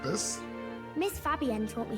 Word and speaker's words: Fabienne: I think her name is pronounced Fabienne. Oh, okay. So it's more Fabi and less N, as opposed to Fabian. Fabienne. Okay.